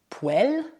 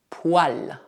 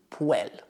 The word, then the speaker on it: poêle: Por exemplo, essa palavra não é pronunciada poêle, mas sim poil. Ao menos na maioria das regiões francesas. Mas, por exemplo, na Bretanha e no Norte, eles não dizem poil, mas sim poêle. Por fim, também é possível